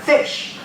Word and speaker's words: ghoti: So Bernard Shaw said, there's the pronunciation of GHOTI, fish.